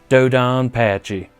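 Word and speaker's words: DoDonPachi: got to play some dodon patchy or do don patchy depending on how you want to say it right but i've always called it dodon patchy so let me just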